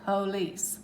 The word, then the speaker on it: police: The police, police. Now, police. You're hearing the E sound here.